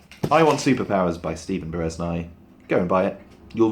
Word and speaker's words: Bereznai: But yeah, I Want Superpowers by Stephen Bereznai.